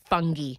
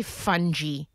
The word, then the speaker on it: fungi: It's actually fantastic, fungi. But I think I physically blocked that out because Americans say fungi. And that is just not okay.